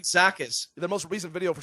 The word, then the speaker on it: Alexakis: I know it's Alexakis. Why would I say like- Art Lexicus?